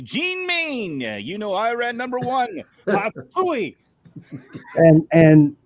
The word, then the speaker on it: Iran: mean yeah you know Iran number one and and hiki told me that we don't say it right it's Iran he said ain't nobody over there really likes to run so I ran anywhere